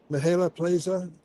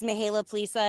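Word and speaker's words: Mihaela Plesa: chair of this group, Mihaela Plaza. Am I close, Mihaela? Thank you so much, Is that close to Senator? pronunciation? Yes, you did very well.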